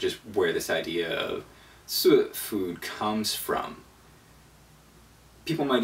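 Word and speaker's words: 素: though is really simple it's pronounced in the fourth tone um you start start mid High sort of and go low I'm a mumbler and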